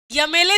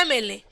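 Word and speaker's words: MLA: यमेले साहब कि एमएलए? एमएलए, आज सब करेक्ट प्रोनाउंसिएशन करते हैं एमएलए। और जब एमएलए है तो जब पता ही चल गया कि ये जो एम है वो यम नहीं, वो एम है, तो इसकी मीनिंग किससे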